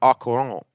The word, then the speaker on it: au courant: Also, the T of courant is silent, so au courant.